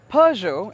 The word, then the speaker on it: Peugeot: peugeot as the brand is correctly pronounced has had a little bit of a